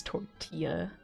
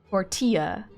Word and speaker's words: tortilla: Did you just pronounce the L's in tortilla? Tortilla. I think I've watched too many Vines. I know it's tortilla.